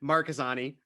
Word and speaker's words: Marchesani: No, that's not how you pronounce it. Marchesani.